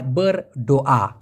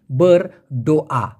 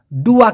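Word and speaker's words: berdoa: দোয়া করা, দোয়া করাকে বলা হয় ber doa। আমি আবার বলছি ber doa, ডুয়া কিন্তু না, অনেকে ডুয়া উচ্চারণ করে, এই ডুয়া মানে হচ্ছে দুই, এটা হবে ber doa মানে হচ্ছে দোয়া করা।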